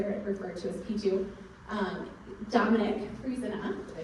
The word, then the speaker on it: Dominic Frisina: Dominic Frisina, did I say it right?